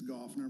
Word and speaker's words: Gaufner: Gaufner, do you want to give our Did I say that right? It's It's Gaufner, but that's all right.